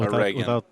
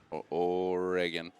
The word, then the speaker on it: Oregon: It's like oregano, but just no O. So Oregano Oregon. without the O. Oregon.